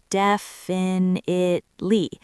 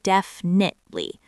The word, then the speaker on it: definitely: A lot of learners try to pronounce every single vowel, definitely. But native speakers swallow the middle syllables. It sounds more like definitely.